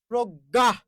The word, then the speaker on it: প্রজ্ঞা: যাচ্ছেন বুঝাবো এই যে প্রজ্ঞা শব্দের শুরুতে পর ফালা আছে র ফালা যুক্ত আছে প্রথম বর্ণে র ফালা যুক্ত আছে যুক্ত থাকলে এই বর্ণের সাথে কি একটা অ আছে ঠিক আছে সেই অ এর উচ্চারণটা কি করবেন ও করবেন এর উচ্চারণটা কি করবেন ও করবেন এই যে প্রো জয় থাকলে শেষে আছে প্রজ্ঞা প্রজ্ঞা এই যে ভাইয়া বুঝতে